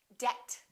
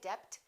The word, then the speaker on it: debt: climb we don't say climb we say climb debt don't say debt say debt subtle and doubt another common mistake